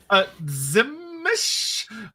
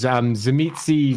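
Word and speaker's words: Tzimisce: Zimish? That's not bad. It's really funny because it's one of those words that are pronounced differently by different writers. Zimitsi, Zimishi, Zamishi, there's lots of different ones.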